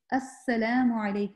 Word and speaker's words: Assalamu alaikum: So properly say, Assalamu alaikum, all right? So make sure lam is pronounced.